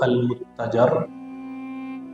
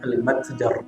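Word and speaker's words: المتجر الرابح: insyaallah saya menjanjikan dulu mengajarkan kitab almatjar atau almuttajar arrabiih berapa ulama kita bacanya almatjar arraab perniagaan yang pasti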